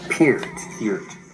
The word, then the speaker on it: Peart: Neil Peart. How do you pronounce that? Ear....with a P in front of it and a T at the end. Peart.